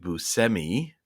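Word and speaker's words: Buscemi: so liow like cow yeah and then Steve Bushi is actually Steve Bui even though he found out that some of his relatives pronounce it either way and then um and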